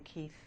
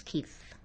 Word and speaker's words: Keith: was uh Keith something Keith Field or something. Yes. Yeah. But there's it's a May Keefe K E I T H. So the pronunciation of the name through centuries obviously became Kit.